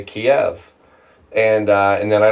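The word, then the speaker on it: Kyiv: say it right but Kiev is the closer pronunciation uh versus Kiev which is the Russian which obviously nobody wants to share that anymore.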